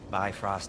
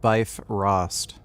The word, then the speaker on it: Bifrost: It'll help you get a better look at the problem with those Bifrost eyes of yours. So, do I control You know, they're pronouncing it wrong. It's actually called Bifrost. this thing somehow then?